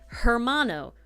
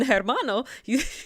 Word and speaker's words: hermano: You don't have to make the H noise. The J noise makes the H, right?